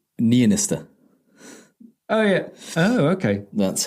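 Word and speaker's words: Niinistö: Well, it's got an umlaut on the O, so it needs to be an It's Niinisto.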